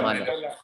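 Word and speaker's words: Mæhle: And the fullback, the Atlanta fullback you guys were talking about earlier, Maila, how do you pronounce it? Mahler.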